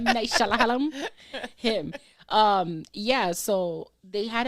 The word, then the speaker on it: Shyamalan: I like how you just butchered it. Shyamalan. M. Night Shyamalan.